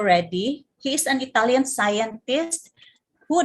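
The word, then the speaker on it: Redi: francesco or francesco reddy others pronounce this as red eye or a guy but in italy uh it's francesco reddy he's an italian scientist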